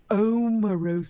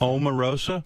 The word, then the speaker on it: Omarosa: She likes her name pronounced correctly. How do you say it? Omar Rosa. Omar Rosa. Yes. No, it's Amarosa.